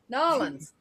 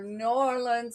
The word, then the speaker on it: New Orleans: Nolans. Them Nolans. people get downright vicious when you mispronounce their town. Yeah, I'm ashamed to New admit I said, Orleans or New Orleans.